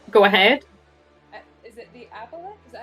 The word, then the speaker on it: aboleth: Is it the aboleth?